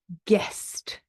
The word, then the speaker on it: guest: We also have a silent U before G and before a vowel. So, for example, guess. We don't say guess. Guidance, guitar, guest. Okay, they're all silent U's.